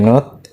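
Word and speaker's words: nut: Ini tuh adalah node ya, tulisannya nu ya. Node atau dibacanya not ya, not gitar.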